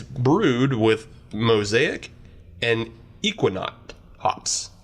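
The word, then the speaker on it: Ekuanot: And it's brewed with Mosaic and Equinaut hops. Equinaut? Equinaut. Not Equinox.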